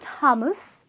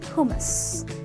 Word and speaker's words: hummus: It's not hummus, it's not hummus, it's hummus, okay?